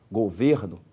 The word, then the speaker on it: Governo: Governo é uma paroxítona, a sílaba tônica é o ver.